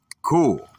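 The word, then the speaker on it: כול: The Hebrew word is cool, pronounced cool.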